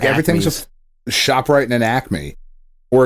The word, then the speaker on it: Acme: just shoprite and an acme or if you're an and acamey that syllable is not there how dare you nope